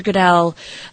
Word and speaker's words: Goodell: the NFL commissioner uh Roger Goodell yeah Roger Goodell I said it right yes okay um he